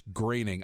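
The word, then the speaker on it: Groening: D no because you you can't pronounce the last name to save your life it's graening I looked it up onal li pants on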